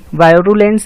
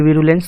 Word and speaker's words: virulence: वायरुलेंस या फिर विरुलेंस कुछ भी पढ़ सकते हैं आप।